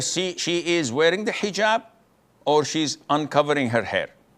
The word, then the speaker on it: hijab: What you're referring to is hijaab with an H.